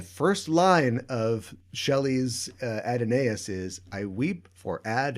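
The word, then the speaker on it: Adonais: he is dead ah if you don't say it adonaius you don't get ten beats or five beats uh in that line i see they say at an as 37 more times in the in the entire poem wouldn't work yeah if it wasn't adenaes so okay well there you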